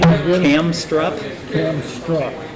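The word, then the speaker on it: Kamstrup: How do you pronounce it? What's the name of it again? Camstrup? Camstrup. Camstrup.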